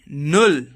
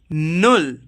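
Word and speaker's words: null: Zero को हम pronounce करते हैं नुल. क्या प्रोनाउंस करते हैं? नुल.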